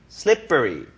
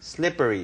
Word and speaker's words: slippery: 알아두시는게 좋고요 slipy 자 발음이 프가 아니라 뿌 쌍비읍 발음의 경음화 현상이 일어납니다 becomes thicker Right So slipy slippery slippery 이렇게 하시면 돼요 자